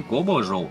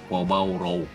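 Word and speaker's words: 锅包肉: И насколько я знаю, даже в Китае это, более правильное название будет не кобаджоу, а кобаороу.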